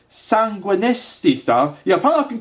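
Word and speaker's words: Sanguinesti: 75 sanguistine staff or as it's actually called sanguinistie stuff yeah i've been pronouncing it wrong the entire time sanguine estate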